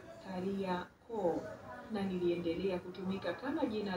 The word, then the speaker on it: Kariakoo: Jina hilo la maaskari wabeba mizigo katika Kiswahili lilitamkwa Kariakoo na liliendelea kutumika kama jina la eneo lote linalozunguka jengo hili la soko la Kariakoo.